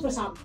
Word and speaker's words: croissant: They don't croissant, pronounce the R.